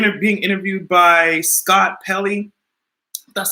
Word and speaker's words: Pelley: he was in and being interviewed by Scott Pelley that's how you pronounce his name and he was just like